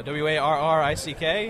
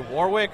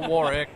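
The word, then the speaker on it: Warrick: n in other words your name is spelled how it's pronounced exactly not like Warwick everyone will say oh you Warwick uh no no Warick War Rick they're two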